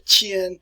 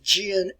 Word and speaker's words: Jin: Sometimes the Qin Empire will be pronounced as the Jin Empire.